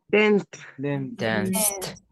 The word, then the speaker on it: danced: So what is the last sound? Dance. Yes. Yes. It's like a S sound. So if I have S sound at the end, in which group do I need to put it? First group. In the first one. In the first one. And the pronunciation is? Danced.